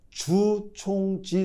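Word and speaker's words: 祖冲之: 중국은 최근 개발한 최첨단 양자 컴퓨터 이름을 주총지 3라고 명했는데요. 바로이 사람의 이름을 딴 것이죠. 조충지의 중국어고 발음이 주총지입니다.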